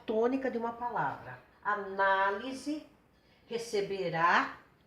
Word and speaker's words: análise: Agora, só para dar uma parte aqui, olha a diferença. Analise, a sílaba tônica está aqui. Receberá, a sílaba tônica está aqui. Secretaria, a sílaba tônica está aqui. Mudando a sílaba tônica, muda o sentido da palavra, tá?